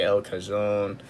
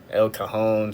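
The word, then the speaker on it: El Cajon: Uh, you can go all the way up here to Lakeside, Sante, El Kazone, El Cahone, sorry. Jeez, I am so sorry for that pronunciation there.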